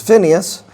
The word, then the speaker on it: Phineas: 25 an individual um whose name is Pinhas or we may pronounce it as Phineas and we're told in Numbers chapter 25:7 that he is a son of Eleazar.